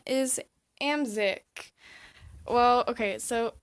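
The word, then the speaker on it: Amzyk: room so the next character her name is am sick well okay so it's spelled a my Z Y K and that's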